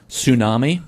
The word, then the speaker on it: tsunami: Tsunami, the T is silent.